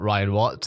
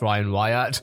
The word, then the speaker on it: Wyatt: his name wrong bit it's not ryan watts it's ryan wyatt left the streaming giant